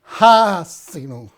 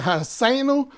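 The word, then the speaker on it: Ha'azinu: Y la enseñanza de hoy, o mensaje de hoy, es Hasinu. Hasinu, que significa, algunos pronuncian Haseinu, que significa escúchenme.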